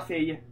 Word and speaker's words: Faye: Sono davvero impaziente di cominciare, signorina Faye. Faye. Faye. Come cazzo si pronuncia Faye?